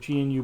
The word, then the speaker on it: GNU: selection area of the GNU Boy emulator. I think that's what they call it, the new Boy. I think the G is silent.